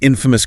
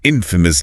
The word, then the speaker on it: infamous: negative, scandalous, an infamous criminal, an infamous disaster. And the transcript reminds us about pronunciation stress on the first syllable.